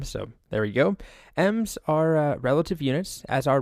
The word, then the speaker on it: em: have yet to cover M's and Rems it's spelled em but it's pronounced M as far as I